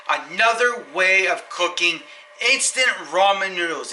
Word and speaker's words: ramen: way of cooking instant ramen noodles it's not ramen noodles it's ramen noodles that's how you say it correctly so I'm going to